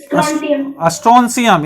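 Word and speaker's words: Strontium: दूसरा, बेरियम तीसरा, चौथा स्ट्रोंशियम, इसको स्ट्रोंशियम पढ़ेंगे, स्ट्रोंशियम, हाँ स्ट्रोंशियम इसको पढ़ेंगे, इसका उच्चारण स्ट्रोंशियम होता है, इसका तो आप जानते ही हैं कैल्शियम।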